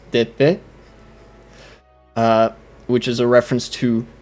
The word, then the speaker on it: d'épée: and that would be spelled, that would be pronounced d'épée, which is a reference to the noblesse d'épée,